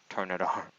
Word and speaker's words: Turtonator: I just realized recently that it's called Turtonator, not Turtonator, but anyway.